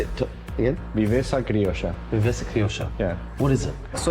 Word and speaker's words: Viveza Criolla: Viveza Criolla. Yeah. What is it? So if Brazilians live the football in Jogo Bonito terms, we have something different, something very different. We call it Viveza Criolla.